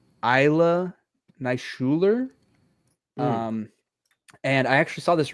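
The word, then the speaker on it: Ilya Naishuller: The original film was directed by, I believe it's pronounced Isla Neishuler.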